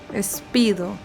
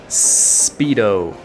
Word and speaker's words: Speedo: Es muy común que ustedes latinos están muy acostumbrados de pronunciar las S con E primero, porque se hace así en español. Pero en inglés es solo el sonido S de una.